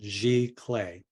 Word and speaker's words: giclée: were were put in place and that's the pronunciation G clay okay so GIC and don't forget that accent